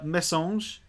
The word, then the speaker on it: Messanges: think it's a town at least, but of Messanges, which is in Londres, in France. That's how it's pronounced, Sean.